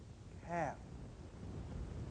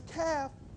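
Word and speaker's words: Khaf: you have time C there's no r CH sound close to the word chemical but it's a little harder but chemical is very close transcription the transcription is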